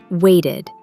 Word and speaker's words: waited: So, for verbs ending in T or D, the ED becomes pronounced as ID. For example, started, decided, shouted, waited.